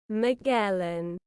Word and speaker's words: Magellan: Magellan.